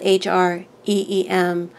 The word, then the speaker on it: Hreem: Pick one of these options, and one being you can recite the mantra Hreem, spelled H-R-E-E-M. Sometimes it's spelled H-R-I-M. It's always pronounced Hreem.